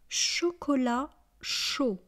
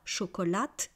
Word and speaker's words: chocolat chaud: Vous verrez qu'ici on ne prononce pas le T et on ne prononce pas le définau. Donc on ne dit pas chocolate et chaude, on dit chocolat et chaud.